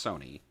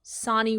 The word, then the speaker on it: Sani: said in the bio sani rhymes with donnie wow hilarious yeah she